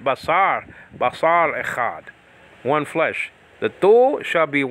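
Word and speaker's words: אחד: So Echa, and then the final syllable is capped off with a D sound, Dalet.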